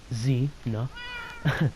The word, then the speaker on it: Xena: I know it has an X in it, but we pronounced it Z-na.